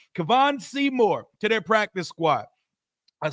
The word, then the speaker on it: Kevon: squad they've signed cornerback Kevin Seymour Kevin or cavon it's spelled with an O if it's Kevin I'm annoyed but cavon Seymour their practice squad